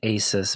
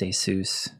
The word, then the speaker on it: Asus: a soos ASU s I used to always call that ASIS but I'm pretty sure it's pronounced a soos yeah that's the I